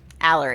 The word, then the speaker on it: Allery: Allery. Allery, right. It's like It's just like Valerie. Pretend it's Valerie without the V. Yeah. Allery. Yes, just take the Valley out of Valerie.